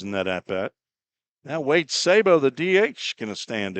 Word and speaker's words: Sabo: And Rhodes quickly ahead to the left-handed hitting Wade Sabo, S-A-B-O. There's no silent letters in Sabo.